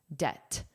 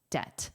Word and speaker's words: debt: And notice the pronunciation. The B is silent. Debt. Debt.